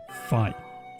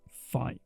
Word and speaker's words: Fi: Zelda director Hidemaro Fujibayashi seems to have been inspired by its divine knowledge to name the spirit of the Master Sword Phi, with emphasis on the Greek letter Phi as the pronunciation.